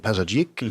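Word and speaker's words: Pazardzhik: So I've done 3 days at a convention in Pazarjik, if I'm pronouncing that correctly.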